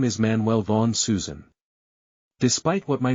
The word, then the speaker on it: Zschüschen: I had to correct people on the pronunciation. No, it's Susan.